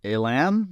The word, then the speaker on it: Elam: head would you the actor is Jack Elam I think I say he say his name